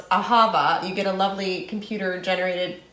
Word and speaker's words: Ahava: Literally, if you Google like how to pronounce Ahava, you get a lovely computer-generated thing that says Ahava.